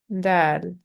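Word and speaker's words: دال: Dal, dal, thin sounding, light D sound.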